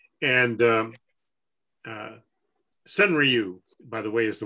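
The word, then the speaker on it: senryu: and uh alan pizzarelli gave a presentation on cenra and um uh sunriu by the way is the way you actually pronounce it but i've given up trying to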